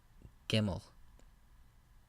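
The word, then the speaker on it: גימל: alphabet is a gimel it sounds like the hard G sound in English gimel the next letter of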